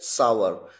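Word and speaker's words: sour: इसी तरह से वर्ड्स हैं आपके सामने शावर या फिर सावर। सावर बोलते हैं सलगम वाला ये सरिता वाला स तो खट्टा, और अगर शलगम वाला श तो फिर नहाना।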